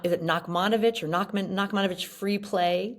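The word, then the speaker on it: Nachmanovitch: play by I think it's Nakmanovich is the way it's pronounced and I was assigned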